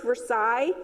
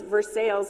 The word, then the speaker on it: Versailles: Versailles, which we would pronounce Versailles, Ah. but it's Versailles in Missouri, I think is how you pronounce That's it.